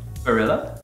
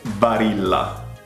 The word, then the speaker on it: Barilla: Barilla? Barilla. Barilla. This is the most popular pasta brand available worldwide, and it's Barilla.